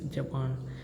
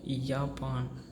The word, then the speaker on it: Japan: So it is like Japan, not Japan. Okay, it's Japan.